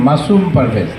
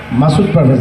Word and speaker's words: মাসুম পারভেজ: আমার নামটা হচ্ছে মাসুম পারভেজ, মাসুদ পারভেজ না।